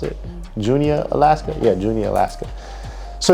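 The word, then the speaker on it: Juneau: But yeah, that was pretty cool to have someone call me all the way from Junia, is that how you pronounce it? Junia, Alaska?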